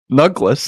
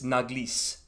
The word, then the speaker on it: Naglis: Nuglis? No, Naglis. Oh, right. I guess if you want the actual how this name would actually be pronounced, it's Naglis.